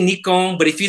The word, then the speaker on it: Nikon: e and it's just only americans north americans that say nikon it is nikon correctly so me being japanese i'm not going to say it wrong because it's like making